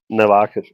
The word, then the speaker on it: Nybakken: He said it's easy. Just think Nike and Reebok. Nakan. Noakan.